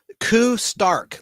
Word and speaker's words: Koo Stark: Koo Stark, like Tony Stark, but her first name is spelled Koo.